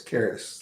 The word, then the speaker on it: Caris: And she was like, no, it's Caris, like carrots without the T.